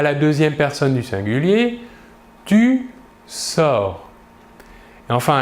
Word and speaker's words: tu sors: Nous voyons bien ici que le verbe se prononce de la même manière. Par contre, les terminaisons S pour les deux premières personnes du singulier ou T pour la troisième personne du singulier s'écrivent mais ne se prononcent pas.